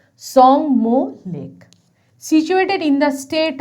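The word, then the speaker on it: Tsomgo: এবার আমরা পড়ব সংমো লেক, আবার টিটা উচ্চারণ হবে না, সংমো lake, situated in the state of Sikkim, অর্থাৎ এই লেকটি সিকিমে অবস্থিত একটি লেক।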